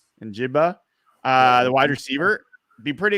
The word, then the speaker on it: Njigba: Is that Njigba? Njigba, the wide receiver.